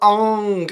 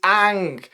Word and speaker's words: Aang: monks named me on his name is not Ong it's Ang it literally has two A's in it how did you miss both of them the storytelling has been